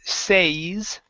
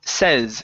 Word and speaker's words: says: here first up um instead of says okay it's says shorty says Jennifer says Jennifer okay yeah so without the s yes that would be say with the S it's says Okay um last word